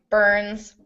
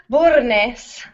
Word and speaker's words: Burns: In English, it's one syllable, Burns. In Spanish, it's much more beautiful, Burnes.